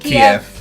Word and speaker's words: Kiev: Kiev.